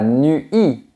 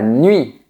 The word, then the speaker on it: nuit: de cette manière et c'est un peu comme le son u mais qui est prononcé très vite. Par exemple, la nuit, on ne dit pas la nuit, on dit la nuit.